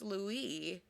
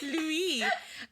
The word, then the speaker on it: Louis: in the book asks Louie about do you like the way I say it Lou um because in the book He's French in the movie It's Lou yeah I feel like